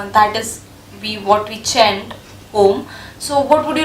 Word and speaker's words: Om: The syllable Om, the syllable Om is a single phoneme that in fact contains of 3 letters, 3 sounds, 3 sub-sounds. Okay. These sub-sounds are A, then O, and the last sound is M.